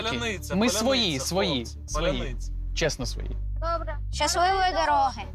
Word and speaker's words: паляниця: Ну, типу, ржали з того, що росіяни не можуть просто вимовити слово. Если получится, давай еще раз. Поляныця.